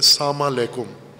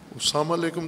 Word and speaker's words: سلام علیکم: البتہ اپنے لہجے میں، بعض پنجابی لہجے میں سلام کرتے ہیں یا غیر پنجابی میں ساما لیکم، ساما لیکم، وہ نہ ساما کا کوئی معنی ہے نہ لیکم کا کوئی معنی ہے، ساما لیکم، سلام علیکم تو کوئی اصطلاح نہیں،